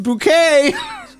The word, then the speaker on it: Bucket: Her name is Hyacinth Bucket, but she pronounces it Hyacinth Bouquet.